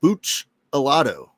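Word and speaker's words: Buccellato: It's pronounced Buchalado.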